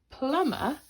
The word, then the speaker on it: plumber: fix the sink the plumber needed a better tool okay so in plumber make sure you remember the silent B that goes after the M okay and then the